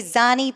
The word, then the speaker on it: Zanni: at Large candidate Zanni. Did I say that correctly? You're close enough. I say Zanni, and I only say that because it's the proper Italian pronunciation.